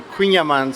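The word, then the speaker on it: kouign-amann: So quyaman think of queen of aman to pronounce it properly and it translate to cake with butter.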